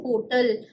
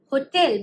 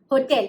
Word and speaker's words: hotel: Also, please note, I'm not saying hotel. I'm saying hotel because the correct pronunciation is hotel. It's not hotel, okay?